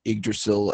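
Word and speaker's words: Yggdrasil: yeah grayza leaves but I pronounce it egg Drasil as like the place just for some reason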